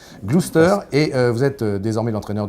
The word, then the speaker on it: Gloucester: l'orgue luz esther ça s'hérite ou ça se prononce gloucester gloucester et vous êtes désormais l'entraîneur du roi normandie